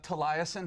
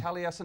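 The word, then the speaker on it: Taliesin: good mispronunciation oh uh tasin has been fun uh talas although that is actually like the Welsh pronunciation I believe it it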